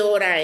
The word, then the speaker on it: hora: The H is always silent.